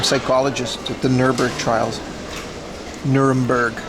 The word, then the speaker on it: Nuremberg: Nermberg, not Nurburgg.